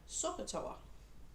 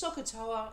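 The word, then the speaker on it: SOHCAHTOA: of old volcano because it kind of rhymes with mount krakatoa but i like to call it mount sokatoa so it's name of a volcano really but it's socata s-o-h-c-a-h-t-o-a and it just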